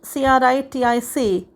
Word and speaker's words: critic: this word has a stress on the second syllable plus the double e sound as in weak critique whereas the word c-r-i-t-i-c critic has the stress on the first level